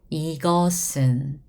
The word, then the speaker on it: 이것은: So when you pronounce it, we write it this way. However, we pronounce it 이것은. It was sound before, remember guys? However, when it goes back to the original on top, it becomes s. Back to original sound, S sound again.